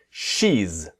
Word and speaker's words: she's: So, if we have he's, we put the S in front. She's. Listen and repeat. She's. One syllable.